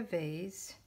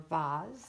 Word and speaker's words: vase: so I just took the vase or boz depending on how you say it and I'll just ink